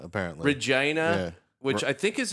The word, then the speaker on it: Regina: from like Winnipeg, and Regina, apparently. Regina, Yeah. which I think is in Manitoba or Alberta? Because I don't know. I think we're It buying ri- all. I know what it rhymes with, though.